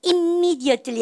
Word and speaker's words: immediately: 여러분들 M이 두 번 겹치면 쌤 발음 몇 번 한다고요? 한 번. 그래서 immediately 아니란 얘기죠.